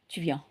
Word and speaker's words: viens: So the VI is vi and then EN is en, viens. So S, silence, pas de prononciation. So S, there is no pronunciation, it's just silent, okay?